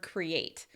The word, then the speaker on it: create: I'm making that shaping between the cre and the ate. But so many non-native speakers separate it. Create. So it sounds a little choppy. It doesn't sound natural. So instead, what you need to do is create that shape in between those two vowels. Create. My mouth makes that Y shaping or the smile in order to make the sound the way it is in English.